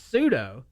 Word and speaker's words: pseudo: do you how do you say that word suedo as say which in the real world it's pseudo pseudonym but in my world of suo suo